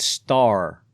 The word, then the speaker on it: Stair: And it's Stair, not Yeah, Stair. Even though it's spelled Stair. It's Star with an I.